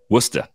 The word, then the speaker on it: Worcester: He's shown more power this year at AAA Worcester, which I believe is the correct pronunciation. Worcester.